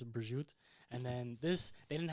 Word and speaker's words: prosciutto: Some people say prosciutto, but in Italian it's prosciutto.